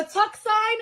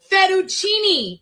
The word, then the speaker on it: fettuccine: For Tuxine Alfredo?